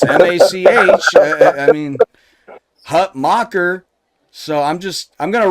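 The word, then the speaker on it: Hutmacher: Hut mocker I swear to God it is pronounced Hut mocker right I know everybody say Hut maker but I swear to God when I heard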